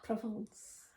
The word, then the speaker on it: Provence: Provence. Provence. Provence. Shut up. It's French. It's Provence. I'm Yorkshire. It's Provence. Provence is spelt with an I, not Oh, an E.